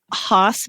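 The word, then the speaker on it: Haas: of I love grooming H brushes which is spelled ha a as and people might have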